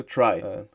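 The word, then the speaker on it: trie: Em inglês pronuncia try, que nem tentar, enfim.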